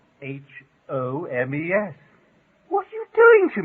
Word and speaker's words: Holmes: The L in Holmes, of course, it's obvious. You mean to tell me that Holmes has got an L in it? course, it's spelled Holmes, and all you need is Homes.